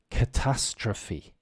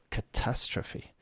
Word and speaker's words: catastrophe: this is catastrophe catastrophe the stress on the second a c a t a s t r o p h e catastrophe so catastrophe yes because I would often hear a lot of people saying catastroph or uh but the the E for some reason uh we pronounce like an e it doesn't make any